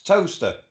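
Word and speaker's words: Towcester: It's toaster. Toaster, that's pronounced toaster. As in bread toaster.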